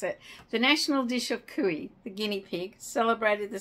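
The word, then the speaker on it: cuy: special events national day of forgotten how to pronounce akuya kui that's it the national dish of kui the guinea pig celebrated the second Friday of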